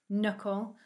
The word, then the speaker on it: knuckle: k and w so a k becomes a silent letter if it comes before the letter n in a word and the k is at the start so like knight knuckle knowledge and knife this means we can't hear the letter k when we say the words they all sound like they start with an n with the w the